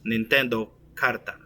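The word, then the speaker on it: 骨牌: However, the true pronunciation of their name was Nintendo Karta.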